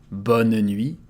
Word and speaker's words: bonne nuit: Bonne nuit, there is a final T that we don't pronounce. Bonne nuit.